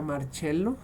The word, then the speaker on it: Marcello: las células marcello malpilly se pronuncia marcello en italiano hay una partícula en